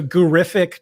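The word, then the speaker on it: Gurrific: believe that uh so gurific 25 let me just spell that out for you all right yeah g-u-r-r-i-f-i-c 25. terrific like terrific it's because John Hanson's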